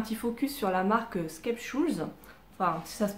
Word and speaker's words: Skeppshult: pour faire un petit focus sur la marque sketch où ça se prononce comme ça font me direz c'est une